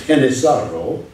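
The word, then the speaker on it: Genízaro: And then another category, which is not genetic, but it's a good term, is Genizaro, spelled G-E-N-I-Z-A-R-O, which is a Spanish pronunciation of the Turkish word janissary, a Plains Indian captive sold and used as a slave.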